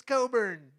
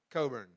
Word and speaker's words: Cockburn: weren't you liar liar because it's Coburn I don't I don't know I just called him aliser all day long I don't know how to say his last name so so it's Alistair Coburn now I have um